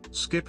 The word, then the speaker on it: SCP: come on just say say this skip and rip thank you that's how you say it skip okay let's move on